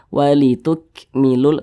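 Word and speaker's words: وَلِتُكْمِلُوا: Karena huruf kaf ini dia salah satu huruf yang memiliki sifat hamas, begitu. Maka cara bacanya itu walituk, seperti itu. Walituk milul tuk, ada ek-nya gitu.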